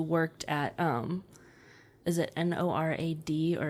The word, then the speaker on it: NORAD: at um is it n o r a d or is it nor NORAD you pronounce it like that Norad um that control triggers